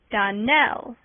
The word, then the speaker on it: Donnell: would said it right DaNell Accent on the last syllable and St CLA on